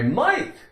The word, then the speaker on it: might: I might stop on the way home and pick up some eggs and milk. GH is silent.